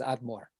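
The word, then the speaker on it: אדמור: a hasidic leader because it's the initials a donaino moreno verabeno our master our teacher and our rabbi so it and then you you know you add all those initials together and you pronounce it as admore so uh you know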